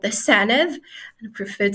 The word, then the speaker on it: Senedd: The Senedd. So that's Senedd. SENEDD. Interesting. Sounds a bit like Senate. Yes, but it's pronounced with the like the THE.